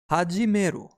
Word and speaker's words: 始める: Its pronunciation is hajimeru, and we can remember hajimeru through following example. Have the gym lessons already begun? Haji, have the gym lessons already begun. Hajimeru.